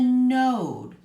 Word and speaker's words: node: and Oh D but what makes that oh say its name I'll quietly at the end n o de node and the node is